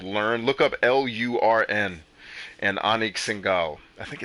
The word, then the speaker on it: Anik Singal: Anik Singal.